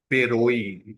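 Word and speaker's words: Beroe: और इनकी एग्जांपल है पेरोई। इसकी प्रोनाउंसिएशन गौर से सुनते हैं, पेरोई।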